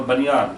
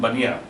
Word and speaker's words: Bania: Similarly, Bania or Banyan, that's what actually is pronounced here in English. Of course, in Hindi we call them Bania.